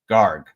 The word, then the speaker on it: garg: Garg. So garg, ship. Soft G. Garg. Oh, at the end. Yeah, soft G at the end. Garg. You got to gargle that.